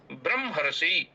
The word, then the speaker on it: ब्रह्मा: अब कभी-कभी ब्रह्मा ऐसा बोल देते हैं। ब्रह्मा पहले म का उच्चारण करते हैं। फिर ह का उच्चारण करते हैं। लेकिन ऐसा करना अशुद्ध है। यहां पर जो ब्रह्मा लिखा हुआ है इसका उच्चारण होगा। ब्रह्मा ब्रह मा ब्रह्मा असतो अह ब्रह